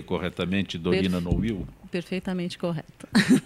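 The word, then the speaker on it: Nowill: E eu pronunciei corretamente Dorina Noil? Perfeitamente correto. Porque é às vezes Dorina Noil, Dorina Noil. O correto é Noil, mas também a dona Dorina não se importava de jeito nenhum de que falássemos Novil.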